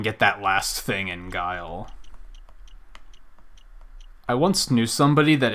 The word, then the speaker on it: Guile: More specifically, he thought the Street Fighter character was pronounced Gile, and I was like, it's pronounced Guile, like the word.